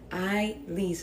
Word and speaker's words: Ailís: My name is pronounced I lease like you're about to lease up an apartment.